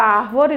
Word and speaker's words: árvore: Ah, já ficou fácil, porque nós trabalhamos agora há pouco a palavra árvore, não foi? E descobrimos que a sílaba tônica da palavra árvore é A.